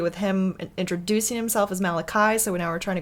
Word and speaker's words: Malachi: it all kind of ties in because like maliki martin malachi martin sorry his name is pronounced two different ways two different ways and so we were on the malachi camp and then we heard some interviews where